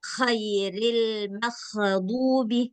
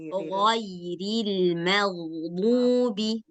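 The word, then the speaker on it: غير المغضوب: Nggak boleh dibaca khairil maghdubi. Nggak boleh. Harus bersih. Ghairil maghdubi. Nah, bersih dia. Itulah yang membedakan huruf ghain dengan huruf kha.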